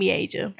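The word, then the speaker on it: Miaja: My first word was my sister's name, Mieja. Asia, really? Yep. Wow. You said that? You The said whole me name? Asia? Mieja. Yep. Wow. Her So name she is Mieja.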